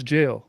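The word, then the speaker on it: gaol: realize that they spelled goal G-A-O-L. Or that's jail.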